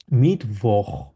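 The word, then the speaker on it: Mittwoch: বলি বলছে মিট ভোক যেহেতু এখানে ডব্লিউ আছে আমরা জানি ডব্লিউ কে ভে উচ্চারণ করা হয় মিট ভোখ মিট ভোক এটা খ এর মধ্যে উচ্চারণ থাকবে সিএইচ টা মিটভ ডোনাস স্টাক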